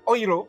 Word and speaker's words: Euro: bisa dapat satu qoiroh bacanya Euro itu bukan Euro yang tapi di Jerman dibacanya ohiro ohiro sama Sigmund Freud dibacanya